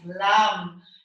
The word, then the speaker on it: Lam: So the syllable that, the sacred syllable that belongs to Mooladhara is Lam. So it's L-A-M. So it's a bit like yam in Australian, yeah? But it's with an L, Lam, Lam.